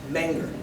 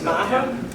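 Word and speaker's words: Meagher: Menger. It's actually pronounced Maher, don't worry about that. I'm going to pronounce my name correctly in the family. So, tell me again how? Maher. It's Maher? M-E-A-G-H-E-R.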